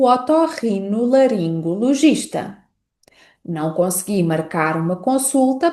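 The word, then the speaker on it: otorrinolaringologista: E esta palavra pode aparecer em frases como não consegui marcar uma consulta para o otorrino laringo logista.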